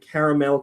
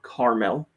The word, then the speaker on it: Caramel: And ZX Billy, and hello Lucas and Dre Gamer and Caramel Kitte or Carmel. I say caramel because it's spelled Caramel, caramel.